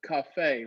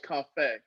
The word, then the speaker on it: Coffey: your name is pronounced cafe right coffee good job look at you yeah okay all right so it's not like coffee it's cafe well done um so